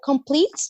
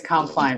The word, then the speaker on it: Compline: And, you know, I did the completes too. I don't know if I'm saying it right. Am I saying it right, Kari? Compline. I think it's Compline from the Liturgy of the Hours.